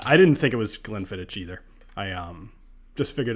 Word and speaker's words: Glenfiddich: let's see Eric wait is drinking a 1998 Glenfiddich is that pronounced Glenfiddich or Glenfiddich I've heard both including from like the actual distillery so I've always gone with Glenfiddich so cast strength that I brought back from